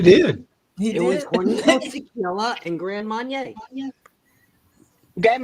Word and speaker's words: Hornitos: Hornitos. Hornitos. Hornitos. We're in the South. We don't do that. I can't do that. Hornitos. Because, you know, sounds like Hornitos. Hornitos. Hornitos. The H is silent anyway.